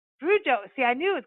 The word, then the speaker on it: Fruge: Is it Fruge or because like I don't know if it's like a Cajun name, Creole name. And it's Frujo. Frujo.